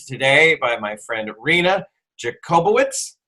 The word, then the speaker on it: Jakubowicz: I'm very excited to be joined today by my friend Rina Jakubowicz. Did I pronounce that right that time? Close. Jakubowicz. Jakubowicz. I missed it by one thing.